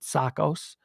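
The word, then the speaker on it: Tsakos: i'm pronouncing that right it's greek it's t-s-a-k-o-s so the t is typically silent sakos before friday the last new york pd officer killed in the line of duty was anastasio's sakas sakos who was struck by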